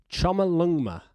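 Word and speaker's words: Chomolungma: It's, let me get this pronunciation right. It's Chama Lungma, which means the mother goddess of the world.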